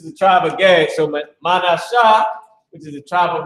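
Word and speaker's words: מנשה: So Manashah, which is the tribe of Manasseh, the name is made to forget. You said it's pronounced as Manashah, Mana. You gotta put a shah.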